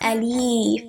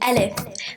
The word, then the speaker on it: ألف: It's not alif. There's no ya in it. It's alif.